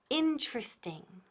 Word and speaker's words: interesting: Interesting. Repeat. Interesting. Nunca decimos interesting, por favor, please, no. Interesting, eso es típico de Spanish. No. So, interesting. ¿Quedan qué? 3 sílabas.